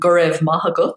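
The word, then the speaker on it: Go raibh maith agat: So yeah, dia gut is how you say hello, and gurev mahagut is how you say thank you.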